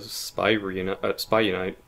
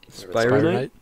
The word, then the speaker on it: Spire Knight: Speaking of which, we need to talk to Spy Unite. Spire Knight? Spire Knight. Sorry, Spire Knight.